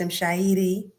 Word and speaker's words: Mshairi: My brother Ross Kofi never really says my full name, so he may not know that it's pronounced Mshairi. That's why he leads a rolled R, my brother.